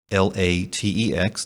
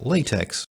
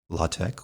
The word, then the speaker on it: LaTeX: as a brief aside you may have noticed that latex is built l-a-t-e-x just like the synthetic fabric latex but in this case is pronounced latex or sometimes latex or latex this is a somewhat